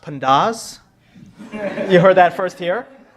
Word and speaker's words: pandas: No, this is just how do you pronounce and Now I'll tell you the middle one is actually pronounced pandas.